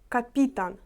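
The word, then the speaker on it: kapitan: команда має свого капітана польською капітан наголос на і капітан і відповідно судить це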